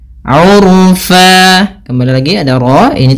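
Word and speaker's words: عُرْفًا: Sebagaimana mad thabi'i urfa bukan lagi urfan, tapi urfa dua harakat.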